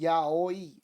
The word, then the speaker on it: Yaoi: Yahi, pronounced Yaoi, is a wonderful new genre of romantic erotica written by women for women readers, featuring man-on-man erotic love.